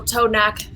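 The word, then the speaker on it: T'Onak: Tonak. T''ONAK. It's kind of it's how it's pronounced, yeah.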